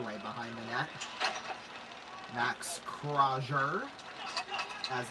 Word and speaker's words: Crozier: Max Crozier, as it's pronounced.